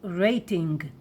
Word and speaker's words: רייטינג: Everybody will understand you, rating, but please say it in a Hebrew pronunciation, rating.